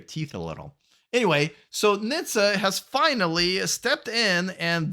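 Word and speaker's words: NHTSA: how it's pronounced which sounds more like a Jewish holiday dish rather than the government organization this is delicious just gets into your teeth a little anyway so Nitsa has finally stepped in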